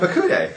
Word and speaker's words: Pekudei: How do you pronounce that one? Pekudei. Pekudei. Yeah. Obviously, I'm Pekudei.